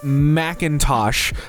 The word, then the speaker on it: Macintosh: Surname, Macintosh, McIntyre, not Mick and no capital I.